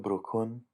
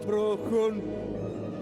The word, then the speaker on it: bru'chun: ch sound, usually, but in here it makes more of a k sound, sort of like a K, but it's actually being pronounced like the h in lock.